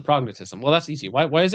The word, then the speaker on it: prognathism: I think you're putting the wrong emphasis on the wrong syllable. Yeah, well, I was thinking thism, but it's tism, prognatism.